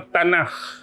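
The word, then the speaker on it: Tanakh: umum Kitab Taurat ni selalu diberikan dengan nama Tanak pernah dengar perkataan tanah pernah dengar tak pernah ejaan dia t a n a k h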